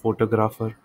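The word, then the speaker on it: photograph: जैसे कि ये तीन वर्ड है, फोटोग्राफ, फोटोग्राफर, फोटोग्राफिक. ओके, ये मैंने ठीक से प्रनाउंस नहीं किया.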